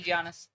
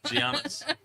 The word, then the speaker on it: Giannis: commentator and saying that they just say Giannis yeah fair enough Giannis he's Greek Nigerian right